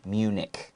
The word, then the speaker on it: Munich: with ch uh it's we pronounce it like a hard c sound munich munich okay and then it